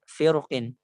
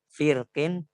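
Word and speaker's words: فرق: Beliau menjelaskan bahwasanya untuk kata firqin itu ada ikhtilaf. Kalau misalnya khofnya itu berharokat kasroh, maka di sini dia dibaca dua cara baca itu hanya ketika wasol. Firqin ataupun firqin.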